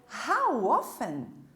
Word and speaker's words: how often: How often? Novamente, não vamos pronunciar a letra T. How often? Com que frequência? How often não se pronuncia o T.